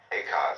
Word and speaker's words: Eka: Eka is Japanese pronunciation, like Zen is the Japanese pronunciation of the Chinese Chang.